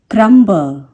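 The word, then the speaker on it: crumble: तो आपको ये याद रखना है कि बी यदि एंड में है और उसके बिल्कुल पहले एम है तभी उसका साउंड साइलेंट होगा, अदरवाइज बी को हम प्रोनाउंस करेंगे। जैसे कि क्रम में हम इसे नहीं प्रोनाउंस करते, क्रम्ब नहीं कहते, पर क्रम्बल कहते हैं। देखा क्रम्बल। इसी तरीके से बहुत से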